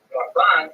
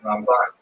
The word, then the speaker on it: Ramban: Rambam is pronounced with the emphasis on the first syllable, Rambam, and Ramban is pronounced with the emphasis on the second syllable, Rambam and Ramban.